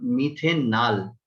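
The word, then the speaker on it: methanal: ठीक है, ये मिथेनॉल नहीं होगा, मिथेनल होगा। थोड़ा सा स्पेलिंग को जरा ध्यान में रखिएगा।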